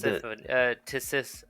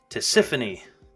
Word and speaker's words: Tisiphone: Tisiphone. Tisiphone. Yeah. Sounds like Tiffany with a S in the middle.